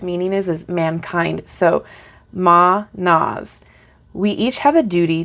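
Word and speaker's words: Mannaz: So, Ma-Nas.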